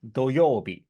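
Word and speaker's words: 土曜日: However, the pronunciation is doyobi, wrong o, doyobi.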